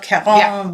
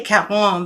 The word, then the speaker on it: Caron: Anyway, Mary Widrowitz and Val Newman love Caron wildflowers. I say Caron because that's what Kathleen calls it. That's how Kathleen, Kathleen, who works here, is French Canadian, so she always pronounces Karen as Caron.